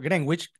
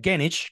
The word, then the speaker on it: Greenwich: al cual conocemos y lo llamamos por Greenwich cuando en realidad su pronunciación inglés sería genich como se dice ya en el Reino Unido y quienes han tenido